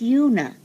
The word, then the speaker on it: Una Merkel: It's pronounced Una. Is it? The soft Una. U. But was it the Miss O'Connor? Wasn't it Una? Hers O'Connor? was Una. But mine is Una. You can so pronounce I've been calling you Una for years. Well, I like the soft U better.